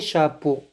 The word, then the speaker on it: chapeaux: x à la fin le chapeau les chapeaux x ne se prononcent pas le livre est sur